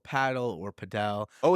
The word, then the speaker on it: padel: not the shits uh the second is I said paddle not padel well there's a big debate on whether it's called paddle or padel oh it's a debate